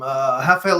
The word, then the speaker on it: Rafael: In Portugal, they pronounce that R in Portugal, so I need you to stop trying to Brazilify everything.